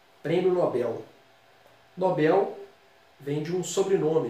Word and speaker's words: Nobel: Muita gente fala Nobel, né, no português popular. A pronúncia padrão, formal, é Nobel. A tônica na última. Prêmio Nobel.